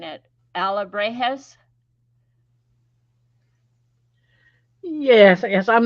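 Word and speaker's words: alebrijes: has Ella she sent me a voice message pronouncing it Alla brejes yes yes I'm not getting it yeah yeah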